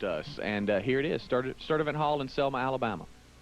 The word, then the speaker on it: Sturdivant: It's some hard-to-pronounce place in Selma, Alabama. Where is this? Rick, it's Sturdivant.